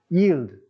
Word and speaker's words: yield: Se pronuncia gracioso en inglés, pero es como varias I juntas. Yield.